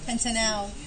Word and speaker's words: pentanal: It's an aldehyde, so this is pentan al. Al. Okay. Be careful how you pronounce that, because the way you said it, Lucas, it sounded like that was an O.